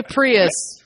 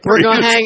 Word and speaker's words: Prius: daily driver okay so this is how you say prius please don't say bring us have to hang up